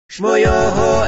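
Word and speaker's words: Schmoyoho: Shmoyoho, accent on the yo.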